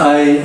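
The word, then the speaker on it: Ai: uh that is called I project because of the uh female chimpan named I spelled a i pronunciation is I and the meaning is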